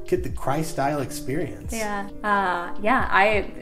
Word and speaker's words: Kry-Style: right get the cry how do you pronounce it cry style get the cry style experience yeah uh yeah